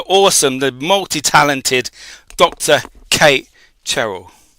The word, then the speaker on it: Cherrell: Kate Cheryl. Congrat. You pronounced that perfectly.